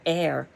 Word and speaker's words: Eyre: after reading persuasion but air eyra is pronounced just like an air h-e-i-r and she is the